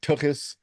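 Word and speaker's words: tokhes: tokus on a platter that's right tokus with a that is the correct pronunciation we get handed our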